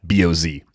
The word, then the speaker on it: Baz: clarification by the way it's baz like the pronunciation guide boz all caps boz so thank you yeah good